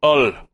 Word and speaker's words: Hull: it must be pronounced Ull. Keep Ull? Up the good work, guys. Like it's French? Like you just drop the H completely?